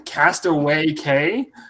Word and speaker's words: Castaway Cay: like it should run Castaway Cay realize like I've I never heard someone saying castaway matrix thing if it makes you feel better k is just simply Spanish for key really I'm gonna glitch